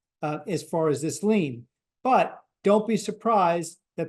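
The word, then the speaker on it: lien: compensation insurer has what's called a lean that's spelled l i n and that is a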